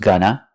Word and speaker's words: going to: To talk about the future, it's more common to use going to, pronounced "gonna", or present continuous with ing.